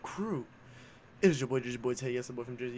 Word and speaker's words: Jerseyboiitay: It is your boy Jerseyboiitay, yes, the boy from Jersey, yes, the boy with two eyes, not a Y. T-Y is how you say the name, please.